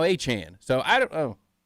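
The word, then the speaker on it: Achane: Achain is now Achan.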